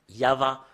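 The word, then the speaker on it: יהוה: ça qu'on le prononce on doit le prononcer comme cela I a h en fait c'est pas faussé jusque-l mais depuis là ça commence en en V euh ou VH ou va yava rien d'autre que ça Yav ça parle pas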